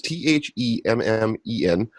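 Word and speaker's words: Themmen: So my former star is Paris Themen, I want to say is how you pronounce his name. It's Themen.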